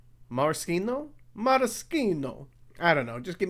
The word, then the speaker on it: maraschino: know how to pronounce i always thought the cherries were called maraschino but i guess that is a bit frenchy and those are italian so i guess the correct way is moroccano marschino i don't know just